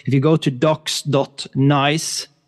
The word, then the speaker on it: NAIS: nice. so that is n AIS s. IO uh so it's it's pron pronounced nice it's a nice platform